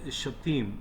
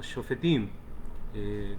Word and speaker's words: Shofetim: La porción número 48, que lleva por nombre Shoftim o Shofetim, como queramos pronunciarlo, ¿de acuerdo?